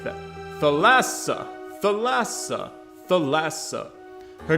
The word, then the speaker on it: Thalassa: supposed to say it either t or th but the middle syllable is accented not the first what phallus the lassa ew i don't like that thalassa thalassa thalassa her name